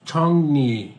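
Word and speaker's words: 정리: থংজাং মানে ব্যাংক বই ছনি আপডেট করা ব্যাংক বই আপডেট করা এই যেটা আপনারা উচ্চারণ করবেন ছনি কারণ ইয়ং এর পরে যদি রিউল থাকে তখন রিউলের উচ্চারণ হয় নিউ তাহলে এটা ছংনি মানে গোজগাছ করা আর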